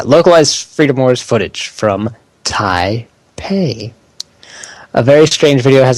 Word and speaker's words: Taipei: name tap hi hi taipei hey it's only the second time i forgot to pronounce it it's like the first part of your name and then pay i don't know so